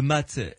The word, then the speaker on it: mât: D'abord, c'est la carte qui s'appelle le mât ou le mat, M-A-T, hein, ça s'écrit.